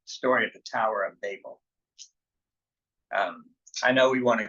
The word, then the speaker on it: Babel: Only one B in the middle of it, so I'm thinking should be pronounced Babel, and because I don't want us to think of babbling.